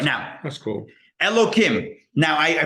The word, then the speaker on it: Elokim: Elokim. Now, I pronounce it Elokim with a sound, even though it's a hey, which should have the h sound.